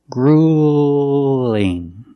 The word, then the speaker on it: grueling: not touching your teeth grueling grueling use the long ooh and when it connects when it links to the light L it sounds a little different listen cruel and grueling it's not so dark grueling now grueling is completely